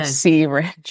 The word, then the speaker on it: See-Rynge: uh to show us C ringe is that the correct way you pronounce the device correct it's a word play on the word syringe so cinge yes yes so that